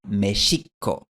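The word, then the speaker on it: México: En el siglo XVI, los españoles llegaron a un lugar al que llamaron Mexico, y según la costumbre de la época, escribieron el sonido sh de esta palabra con una X.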